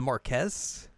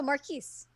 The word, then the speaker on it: Marquise: I mean, it's the Marquez, Oh, Marquise. Marquise, but I don't know why it's.